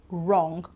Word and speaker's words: wrong: me right wrote rap wrong or wrists everything starts with a R so the sand rap but in fact we don't pronounce the W here right and also the